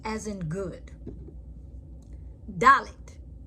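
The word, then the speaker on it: דלת: Dalet is sound like a D as in door.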